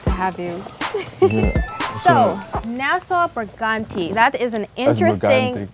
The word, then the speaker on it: Brigante: Brigante. I want to say it with an accent though. Brigante. It's Hispanic. So when you get international, I could say it like them, you know? It's Hispanic, you know.